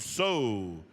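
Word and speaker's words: Tso: Jerron So from Tingley, Arizona. And So is spelled T-S-O. It's Navajo.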